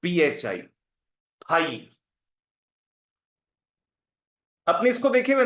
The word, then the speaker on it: phi: Bracket में इसका pronunciation लिख लो PHI, फाई।